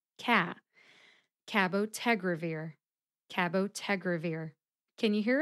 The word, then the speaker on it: cabotegravir: a very slight difference Ted gets the most emphasis Ka gets the second most emphasis cabotegravir can you hear it Cabo tegravir how did